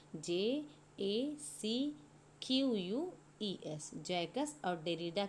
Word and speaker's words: Jacques: जो है French critic थे जिनका नाम था जैकस डेरिडा।